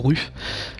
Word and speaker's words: RUF: Bah tiens, on va en prendre une ref. Je sais pas si on dit ref ou ruf. Jamais. Prononce à la française.